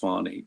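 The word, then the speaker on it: Fani: I think the way you pronounce it is Fonnie, but it's spelled Fanny.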